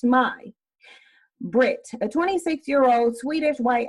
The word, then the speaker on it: May: Her name was May, pronounced Mai.